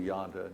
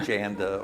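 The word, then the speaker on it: Yonder: Solutions, Wild Blue, so you remember how to pronounce Yonda correctly. Wild Blue Yonda, not Wild Blue Janda or Jonda, right?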